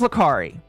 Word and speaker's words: Lacari: talked about a guy whose name is Lacari or Lacarry. I don't know how you pronounce his name. His name is Lacari.